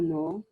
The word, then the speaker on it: know: No, not know. K is silent here. Okay. No. Everybody needs to know about numbers.